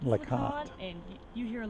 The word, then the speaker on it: LeConte: What is the proper pronunciation of this spot here? Is it LeConte or LeConte? It's the Conte.